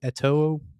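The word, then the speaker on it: Eto'o: ateo how do you say his name again ATO that's the same sameletoe sorry he was a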